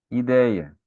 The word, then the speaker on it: ideia: Ideia. I, dei, a. Não vão me juntar ideia. Não vai juntar o deia tudo na mesma sílaba, tá bom? Não é um tritongo ali, tá?